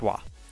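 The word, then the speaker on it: は: it uses the ha he Tigana but it's pronounced wah so calm meet tu off calling me chew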